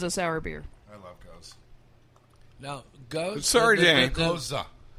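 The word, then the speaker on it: gueuze: Goza. You pronounce the G kind of like guttural H.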